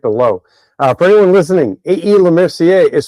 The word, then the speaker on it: Lemercier: Lemercier is spelled A-E, obviously.